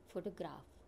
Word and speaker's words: photograph: I have explained differently see the world photograph the Annunciation is photograph see the first syllable I have given this trace and the two other words are weak some that's why photograph